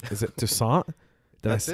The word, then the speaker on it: Toussaint: Is it Toussaint?